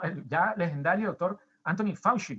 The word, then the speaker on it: Fauci: Bueno, el ya legendario doctor Anthony Fauci, como lo pronuncian en inglés, el doctor Anthony Fauci,